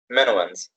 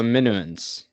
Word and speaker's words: Minoans: How Not do the I pronounce it? Minoans. So Minuans. Yes. Minuans after Minos, a legendary king of Crete.